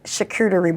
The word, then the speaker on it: charcuterie: So, what inspired you to start creating charcuterie boards? Is that how you pronounce Let me say it right.